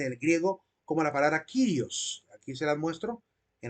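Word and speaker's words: κύριος: palabra se debe pronuncia kirios Porque esa letra que aparece ahí que parece u no es una u es una letra ipsilon y se debe pronunciar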